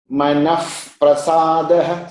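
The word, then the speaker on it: मनःप्रसादः: Manaf prasadaha. See, here that f is coming.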